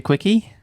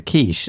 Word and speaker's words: quiche: Does anyone fancy a quickie? Excuse me? Let's try and finish the podcast first. No, it's a quiche.